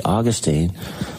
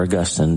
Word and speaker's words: Augustine: all Neurosis so basically Austine or Augustine depending on who who you read and how you pronounce his name but Augustine said desire